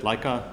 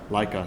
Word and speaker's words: Leica: Leica Leica, thank you.